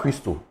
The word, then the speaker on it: Christo: Christo. It's Greek. It sounds like Ghanaian, Papa Christo.